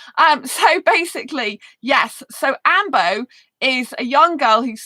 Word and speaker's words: Ainbo: can i spell a a-i-n-b-o but it's usually pronounced ambo so if you haven't seen the movie amber